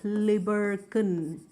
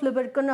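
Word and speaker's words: Lieberkühn: forming the crypts of libercan a german spelling with those two dots on the u which brings out that pronunciation right crypts of libercon or something that uh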